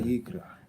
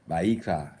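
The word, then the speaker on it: ויקרא: Vayikra. Vayikra is how you pronounce it in Hebrew.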